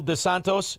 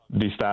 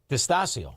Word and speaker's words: Distasio: DeSantos. How do you say I'm butchering your name. Say it right. So go ahead. That's all good. Distasio. All right. Distasio. Oh, very good.